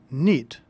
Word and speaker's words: knit: Notice that the word knit is spelled with a silent K.